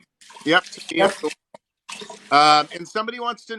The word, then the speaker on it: Tamia: Tamia, is that how you pronounce her name? Yep, Tamia.